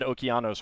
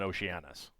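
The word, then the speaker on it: Okeanos: I'll be doing that for like all of them, which is why I had Okanos rather than Oceananis.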